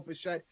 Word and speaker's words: Bichette: And like you said, it does rhyme with Shmo Bichette. It is Bo Bichette, 10.2 DraftKings fantasy points he's averaging over his last 10 games.